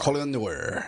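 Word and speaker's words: Colion Noir: The guy who, I always mispronounce his name, Colin. Colin Noir? Yeah, Noir. Colin Noir.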